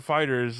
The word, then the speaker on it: FighterZ: Yeah, Dragon Ball FighterZ, or Fighters as the official pronunciation goes.